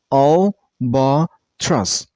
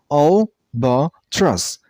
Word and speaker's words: albatross: Albatross. The last syllable isn't pronounced as truss. It's truss. Okay? So albatross. And you also stress on the first syllable.